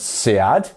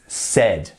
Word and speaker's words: said: said remember it's not pronounced s it's not pronounce sad it's said said like R said perfect good job next